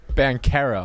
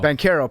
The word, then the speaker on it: Banchero: Banchero. Banchero.